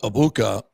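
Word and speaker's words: Egbuka: And somebody finally told him the G is silent. So he got it right this week. Said, Emeka Ibuka has a hamstring injury.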